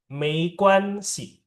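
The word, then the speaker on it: 没关系: Oke, dan Mei Quan Si. Mei Quan Si. Mei-nya biasa kan, M. G itu dibacanya K. Jadinya Quan. Mei Quan Si.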